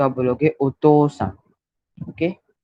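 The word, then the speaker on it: お父さん: पर ओतोसान को ओतो ऐसे प्रोनाउंस करते हैं, पर लिखते समय वो ओतोउसान ऐसे लिखते हैं.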